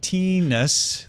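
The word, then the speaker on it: Thinus: He says pronounced Teenus. The H and I is silent. There we go. I keep saying Thinnis.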